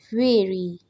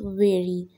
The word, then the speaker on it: very: out burnt out spent fairy the correct pronunciation is very be careful don't forget